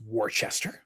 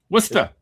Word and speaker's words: Worcester: You Hill Eric, even I know it's it's not pronounced Warchester. Worcester.